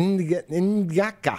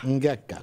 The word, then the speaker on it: Ngaka: Ngaka. Ngaka. Comme Nguyen.